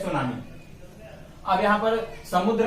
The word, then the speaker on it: tsunami: सुनामी की spelling में आगे टी आया हुआ है, टी साइलेंट होता है, तो इसको बोलते हैं सुनामी।